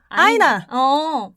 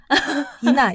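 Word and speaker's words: Ina: 러시아에서는 많이 쓰는 이름인데 그래서 영어권 사람들은 이름이 앞에 아이가 올 때 이라고 읽는다고 생각을 안 하는 거야. 그래서 아이나.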